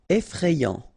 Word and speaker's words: effrayant: Effrayant. Final T not pronounced. Effrayant.